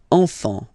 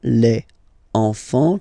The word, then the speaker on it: enfants: You don't pronounce the S. Enfant. Okay, and now we can focus on the liaison here. So you should make the little link. Les enfants.